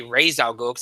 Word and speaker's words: Ra's al Ghul: a Alexander siddig is Ra's al Ghul and they I should say raised our globes they actually did the pronunciation right um was much more